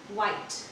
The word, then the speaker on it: white: में ई देखें तो बोलते वक्त आपको इसे साइलेंट कर देना है। ऑलराइट, जैसे कि वाइट, WHITE वाइट, WHITE वाइट।